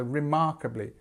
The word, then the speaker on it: remarkably: So you'll see that again, this E here becomes this I sound again, so remarkably. You've got your stress in the same place again.